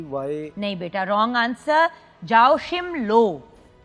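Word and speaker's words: Joachim Löw: बताओ एस टी वाई नहीं बेटा रंग आंसर जाओ शिम लो जे ए ओ सी एच आई एम एल ओ डब्लू ओशिम लो इज the right answer मुश्किल नाम था मैंने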